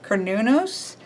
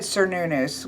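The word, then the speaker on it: Cernunnos: this was is C I always say this wrong konus um I always said cunu when I was reading them growing up um but it's not not how you pronounce it correctly but he was the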